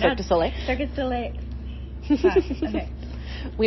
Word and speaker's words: Cirque du Soleil: Because we're doing the article on Cirque's, I can't pronounce. Cirque du Soleil. Cirque du Soleil. Okay. We have a running joke that all of the family members of Cirque employees call it Circus Olay.